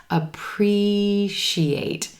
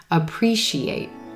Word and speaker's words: appreciate: word emphasis is going to be on that second syllable and the green t e sound appreciate our other syllables are quicker in contrast appreciate shia she ate appreciate appreciate all right so let's